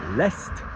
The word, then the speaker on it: est: don't pronounce the D, l'est, you join it to the word the, which I know is written like E-S-T, which is like the verb to be, he is, il est, but you pronounce the T.